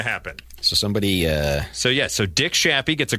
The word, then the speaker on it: Shappy: It's not pronounced Shape? No, it's Shappy. S-H-A... Because that should be the name of the club.